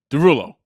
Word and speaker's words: Derulo: Derulo's last name is Derulo it's dulo and it's spelled d e s r e like l e a u x but he just makes it Derulo breaks it down except